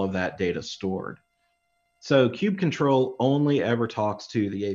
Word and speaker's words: kubectl: I love, and by the way, I say kube control. Some people say kubectl. I've heard all kinds of crazy pronunciations, but for me, it's kube control.